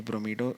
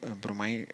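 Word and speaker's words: bromido: ब्रोमीडो की जगह यदि इसको उच्चारण करें तो ब्रोमीडो भी पढ़ सकते हैं।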